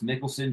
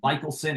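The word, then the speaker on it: Michelsen: his name looks like Michaelson it's Mickelson pronounced like the golfer um so that that's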